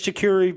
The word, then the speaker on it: charcuterie: I think charcuterie is my word, because I still say it wrong. Yeah. Every once in a while. I'm still not confident you're saying it right now. It's charcuterie. But I it's a soft seat.